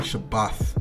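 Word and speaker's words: שַׁבָּת: Shabbath. Really Shabbath, not Shabbat. Shabbath would be the correct pronunciation.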